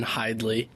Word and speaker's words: Hidlay: And I'm the 157-pounder hailing from Lewistown, Pennsylvania, Hayden Hidlay. Very impressive. You guys nailed those pronunciations.